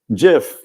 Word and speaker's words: GIF: a little campaign and it is a soft G folks I'm sorry so um Jif yes the letter G